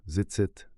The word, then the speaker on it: Tzitzit: হল দৃষ্টিগত স্মোরড ঘুমানোর সময়ও আকার কোড জিসিসের উচ্চারণ হল জিতসি এবং বহুবচন রূপগুলি হল জিসি বা সরলভাবে জিত সতর রং নলের নির্দেশ ছায়া প্রয়োজন নেই।